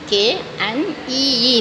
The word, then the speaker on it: knee: s t wrist knee k n e e knee k is a silent letter okay skull s k